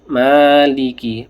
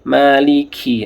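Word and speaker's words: مَالِكِ: Ma dua harakat. Maliki. Maliki. Ah, kafnya ada hamsnya ya. Ada nafasnya yang keluar. yaumiddin.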